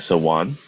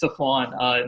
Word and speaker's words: Safwan: Sawan. It's Safwan.